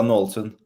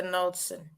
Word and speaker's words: Naalsund: tell you say your name because I can spell it but how do I say it Lisa Nelson Lisa Nelson um and I think it came out today